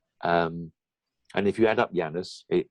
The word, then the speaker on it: Janus: called the janus gene j-a-n-u-s i'm talking about it's pronounced janus with a y meaning x and y-chromosome